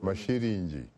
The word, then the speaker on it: Masilingi: I would say Masilingi. Pronounce it correctly. Masilingi.